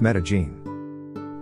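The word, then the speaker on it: Medellín: place to go is made in Colombia which is pronounced Medellin I also heard that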